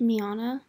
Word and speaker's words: Miana: and correct myself um i believe her name is actually pronounced miana so then i got